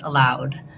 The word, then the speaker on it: allowed: In this case, you want ow, you move from a more open, unrounded to a more closed, lax rounded, ow. So building it from that diphthong might be helpful, trying ow, low, allow. And then when we add the D for allowed, add the D sound, allowed. So thinking about that, rewriting it, I would write it as loud.